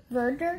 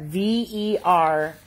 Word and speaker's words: verdure: Verger? Verdure, not Verger.